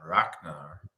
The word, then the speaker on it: Ragnar: You've also, in your family have a Ragnar. Yeah. And that's the G is K. Yeah, and it's a very hard G.